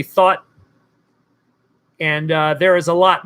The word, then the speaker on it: Thoth: of Thoth and which think about thought because that's really how it's pronounced it's it's truly thought and there is a